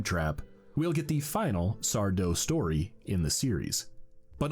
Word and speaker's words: Sardo: Last season, Tucker surprised me with a sudden appearance from Sardo. No mister accent on the dough.